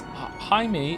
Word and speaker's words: Jaime: Jaime is pronounced in like the hide in Hideyoshi, but with an M.